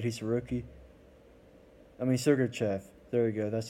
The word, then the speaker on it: Sergachev: I mean, Sergachev. There you go. That's how you pronounce his name.